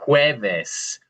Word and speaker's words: jueves: That would be jueves. Jueves. Jueves. Yeah, good. Kind of like our word for egg, right? Huevo, but since the J is making the H sound, that's more of a jueves.